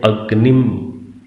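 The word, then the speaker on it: अग्निं: अब मंत्र के अंदर इन दोनों पदों के साथ ऊपर बिंदी लगी हुई है, तो उच्चारण क्या कर रहे हैं? अग्निम, इंद्रम।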